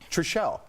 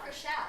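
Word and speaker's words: Chrishell: Are you guys selling did I say her name wrong? Trishelle. Krishelle. Oh, it's Krishelle? Yeah, Krishelle.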